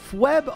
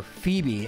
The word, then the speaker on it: Phoebe: to be fairly easy FB on the other hand or Phoebe as some people pronounce her name wrongly is going to be